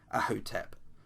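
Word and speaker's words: Ahhotep: Now, the lady in question is, pronunciation is Ahotep, which Ahotep.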